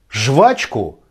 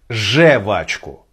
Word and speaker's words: жвачку: жевательная резинка как правильно говорить я хочу жевать жвачку или я хочу жевать жевачку как правильно разбираемся сегодня открываем словарь ожегова там написано что единственная верная форма которую стоит использовать в данном контексте слова же в очках